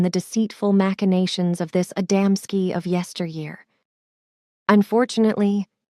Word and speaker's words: Adamski: known to us but you mispronounce them the first is called adamsky the second gaves and the third mialik these are not names